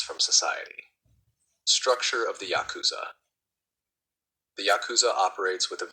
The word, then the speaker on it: Yakuza: game called oo kabu where 893 pronounced Yakuza is considered a bad hand the Yakuza adopted this